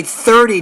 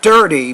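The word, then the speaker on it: thirty: move to you so you say 30 not dirty but 30 seconds so when you pronounce the th sound usher II you want to make sure you have your tongue between your teeth when you do that all right mrs.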